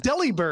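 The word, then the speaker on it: Delibird: But also, is it pronounced delivered? I guess that makes sense. I know, right? But like nobody ever says that. I never knew that. Deli bird.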